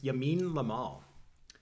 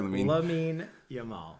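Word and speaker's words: Lamine Yamal: I'm starting with an easy one that is Yamin lamal I was going to use him I said his name wrong sorry L yamal okay we should do that again Charli myself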